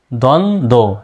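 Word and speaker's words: দ্বন্দ্ব: উজ্জ্ব আছে বির উচ্চারণটা দ্বন্দ দেখেন তো দ্বন্দ উচ্চারণ করতে গিয়ে দেখেন বর কোন উচ্চারণ আসতেছে এই দুইটা বের কিন্তু উচ্চারণ আসতেছে না সুতরাং যেটার উচ্চারণ নেই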